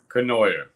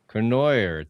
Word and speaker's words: Cournoyer: Kenoyer. Kenoyer.